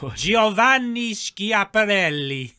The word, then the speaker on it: Giovanni: italian gentleman so i'm going to pronounce his name in the italian style it was giovanni and he spotted some